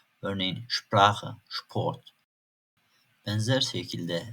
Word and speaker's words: Sprache: Örneğin "Neun, Haeuser" Şayet s harfinden sonra p harfi geliyorsa s harflerini ş gibi okuyacağız. Örneğin "Sprache, Sport" Benzer şekilde s harfinden sonra yine t harfi geliyorsa yine s harflerini ş gibi okuyacağız.